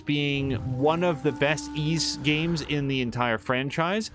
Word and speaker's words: Ys: unfamiliar with the franchise ease is spelled Ys and then Locos of